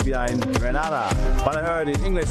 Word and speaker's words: Grenada: It's Grenada. It's not Granada. It's Grenada.